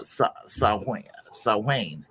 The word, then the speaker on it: Samhain: But holiday is rooted in an annual Celtic pagan festival called Samhain, pronounced Samhain.